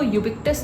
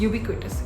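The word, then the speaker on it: ubiquitous: इसको यूबिक्टस नहीं कहा जाता, दिस इज कॉल्ड यूबिक्विटस.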